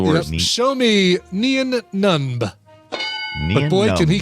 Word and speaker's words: Nunb: Oh, N-U-N-B.